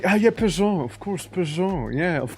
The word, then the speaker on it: Peugeot: Oh, you mean Peugeot? Peugeot. Yeah, Peugeot. Of course. Why am I reading it like page out?